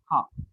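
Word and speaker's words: ห้า: The correct answer is because 5 in Thai is pronounced as ha.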